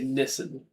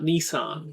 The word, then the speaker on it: Nissan: They call it, they say Nissen. They say Nissen, not Nissan. Niss.